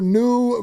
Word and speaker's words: NUE: new vodka, which is spelled NUE vodka.